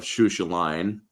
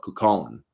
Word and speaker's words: Cuchulainn: If you try pronouncing it, it's the blood of Shushaline, where it's actually, if you look at, or it's not phonetically pronounced. It's the blood of Cuchulainn.